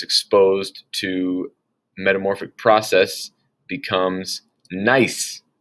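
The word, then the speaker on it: gneiss: monday in the slideshow nice looking rock people make countertops out of it and that kind of stuff granite when it's exposed to metamorphic process becomes nice the g is silent on that so it's pronounced nice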